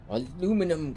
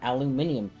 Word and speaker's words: aluminum: okay fine I'm these aluminum crate which is actually the proper way to say it the Brits are wrong it is not aluminium aluminium was the original